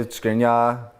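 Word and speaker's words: Škriniar: I'd say Skriniar, Lautaro.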